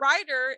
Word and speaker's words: Ryder: the funny thing so writer is spelled r y d e r but it's also kind of a play on writer w or i t